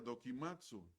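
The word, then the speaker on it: δοκιμάζω: Otra palabra, y es la última, y es una palabra que en el griego es una palabra que se pronuncia dokimatsu, y es una palabra de la metalúrgica.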